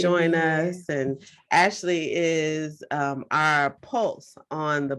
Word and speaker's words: Ashleigh: So is that Ashley or like Ashley? It's Ashley.